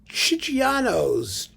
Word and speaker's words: Chigiano: They were the Chigianos. Chigianos. Oh, it's an Italian CH, so it's Chigiano.